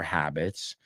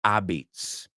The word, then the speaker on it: habits: of your habits is pronouncing the H inh habit you know why I've heard a lot of students say he has bad abits like abitos Deigo he has a lot of bad habits so we're going to